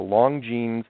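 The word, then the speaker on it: Longines: but there was a television show called The Long jeans I pronounce it right this time uh l n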